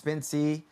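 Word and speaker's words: Spensea: It is, it's Spincy, Spence, and then C. You guys get it? You guys get it, right? Right? Spin, like Spincy, but it's spelled S-P-E-N-S-E-A.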